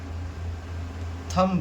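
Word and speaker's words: thumb: कब साइलेंट होता है, बी तब साइलेंट होता है एम के बाद, एम के बाद कभी भी बी आए, एम के बाद कभी भी आए, बी आए कभी भी, तो हमारा बी साइलेंट हो जाता है। जैसे कॉम्ब हो गया, बॉम्ब हो गया, क्रम्ब हो गया, थंब हो गया, तो बी हम लोग का यहाँ पे साइलेंट हो जाता है।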